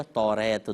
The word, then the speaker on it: توریت: یعنی وہ اوصاف بتائیے جو تورات یا توریت دونوں اس کے تلفظ ہیں، کہ توریت میں جو